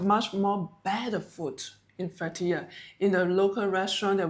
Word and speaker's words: Fethiye: Fethiye.